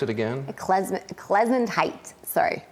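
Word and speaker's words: Klezundheit: Klezentite. Sorry. It's kind of like a sneeze, like Klezentite.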